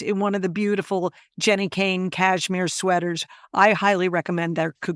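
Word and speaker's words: Jenni Kayne: Now's the time to invest in one of the beautiful Jenny Kane cashmere sweaters.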